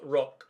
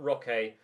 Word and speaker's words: Roque: A couple of you letting me know that it's, because he's Brazilian, it's Rock, not Roque, as the way you pronounce his surname.